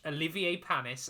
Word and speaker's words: Olivier Panis: are going to watch olivier panis and i did make sure to say his name correctly um not richard hammond's version not richard hammond's version no